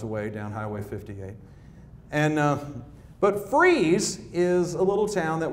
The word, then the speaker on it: Fries: Now, the trail splits at Freeze Junction, and out today we would have called this Fries Junction. Freeze changes its pronunciation according to the weather. When it's cold, they call it Freeze. When it's hot, they call it Fries.